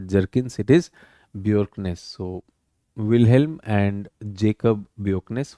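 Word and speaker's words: Bjerknes: So, B J E R K N E S you would pronounce it as Jerkkins. It is not Jerkkins, it is Bjorknes.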